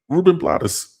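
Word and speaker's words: Rubén Blades: I moved to Panama to listen to Ruben BL Ruben Blottis. Oh, that's how they say it.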